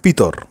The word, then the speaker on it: পিতর: এবং নৌকায় উঠে পড়ে এই ভদ্রলোকের নাম পিতর যদিও ইংরেজি উচ্চারণ এখন পিটার হইছে আমরা তাকে পিতর নামেই চিনবো যীশু মাছ শিকারের কথা